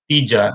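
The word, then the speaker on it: ਤੀਜਾ: The pronunciation of the numeral is Tija and not three because it's not cardinal. It tells you the order. So it's third. So the pronunciation would be Tija.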